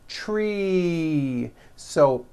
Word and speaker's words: trees: You've got one tree or two trees. It's not trees with an unvoiced s. It's trees with that voiced ending.